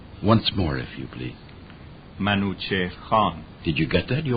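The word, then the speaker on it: Manúchihr Khán: they determined to get rid of the Bob Manu chair Kahn was the governor of that part of the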